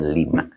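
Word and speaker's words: لِمَ: Nah, ini bukan lam ya. Awas dibacanya lima.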